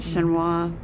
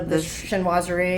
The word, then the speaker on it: chinoiserie: top cuz that how do you say it shinoa what's this the Chinese oh chinoiserie chinoiserie you know style is definitely this and